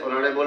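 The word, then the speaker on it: honourable: এটু কি হবো এভাবে mister Ahmed is dash অনারেবল ম্যান অনারেবল কি হয়েছে একটু সাইলেন্ট হয়েছে আর সাইলেন্টের সঙ্গে কি ব্যবহার করি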